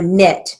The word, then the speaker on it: knit: had the skill to knit period again knit even though it's spelled k n i t it's pronounced with an n so we write it